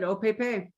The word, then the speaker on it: Opepe: Has anyone told us the correct pronunciation for that yet? I asked at Silver Thimble and they said Opepe.